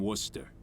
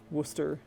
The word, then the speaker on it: Worcester: Tom lives at 117 Gimlet Terrace in Worcester.